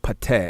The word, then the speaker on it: Ptah: So now if we turn to Budge page 254, you see the word Pateh, as he say, P-T-E-H. Many spell it P-T-A-H.